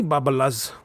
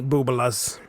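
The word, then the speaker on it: bubbelehs: No, wait a second. I mispronounced it. See, I'm not Jewish, and I've heard this word pronounced before by my good friend Mark Rattledge. Don't thank me, Boobalas. There you go.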